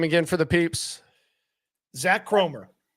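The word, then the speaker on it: Zak Kromer: Zach Cromer. Zach Cromer.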